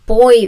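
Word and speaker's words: Boi: This is called the boy variation spelled with B Oi, not B O Y, which I don't know why, but I don't really care.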